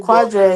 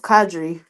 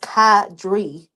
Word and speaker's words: Quadre: This is my This is y'all call him Quadre. His name His name is Kadre. Kad. I don't know. The Q is silent.